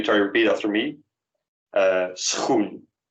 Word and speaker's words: schoen: And just to remind you, the SCH in Dutch makes one sound, and sort of one sound. It's actually two sounds, but kind of morphs into one, namely sch, sch.